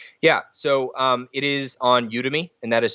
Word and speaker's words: Udemy: buy it basically yeah so it is on udemy and that is spelled UD e my udemy calm and Brett